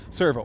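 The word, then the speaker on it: Sirvaux: it's not Servo anymore it's Servo it sounds the same only it's spelled s i r v a u x Servo we'll just grab that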